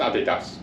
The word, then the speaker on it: Adidas: I just wanted to make sure um it's pronounced Adidas so why did you say Adidas because there